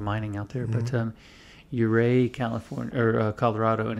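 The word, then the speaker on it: Ouray: a lot of mining out there but um euray california or colorado and it's spelled u-r-a-y oh yeah um and it's a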